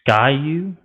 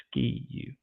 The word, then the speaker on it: Ski U: It is Sky U. It is the Sky U podcast, not the Ski U. But it's spelled S-K-I.